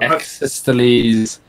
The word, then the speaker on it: Ecclesiastes: Exesteles.